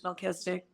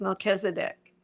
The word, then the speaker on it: Melchizedek: So I did grow up hearing Melchizedek, and it's a little different how they say it in the Mormon Church, Melchizedek. And I think how you really say it is Melchizedek.